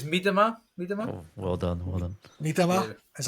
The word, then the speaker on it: Miedema: I think it's Miedema. Oh, well done. Miedema, is that correct? Yeah, Miedema.